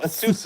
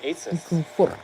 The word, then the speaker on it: ASUS: Although ASUS is the correct way to say it. A lot of people say ASUS.